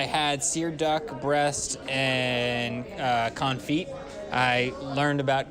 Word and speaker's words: confit: It's pronounced confit. Oh, yeah. Fiasco's saying it's confit. Is he saying confit? It's confit. He's... Confit. Yeah. Oh, confit. We don't. The T is silent.